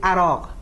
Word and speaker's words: عراق: But in Farsi we say "عراق" and in fact if we want to write the phonetic for this word, we can just put "اراق". So there is no difference in pronunciation between "عراق" and "اراق".